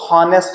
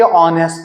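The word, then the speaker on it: honest: कुछ लोग अभी भी इसको हॉनेस्ट पढ़ते हैं जबकि ये ऑनेस्ट है, क्योंकि एच इसमें साइलेंट है।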